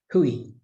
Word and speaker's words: hui: a bit quick but actually the proper way to say it is but we say it quickly so it's easy to miss that it's got those two vowels in it hui so i hope that's